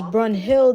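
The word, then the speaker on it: Brunhild: I'm like it's Brun Hill though. Like literally Brun Hill.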